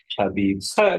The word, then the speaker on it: Khabib: Justib is Khabib. They pronounce it with a K at the beginning. Khabib because they don't have H in Russian.